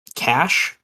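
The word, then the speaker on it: Kash: more uh it is his name is um cash basically but spelled with a k um no connection to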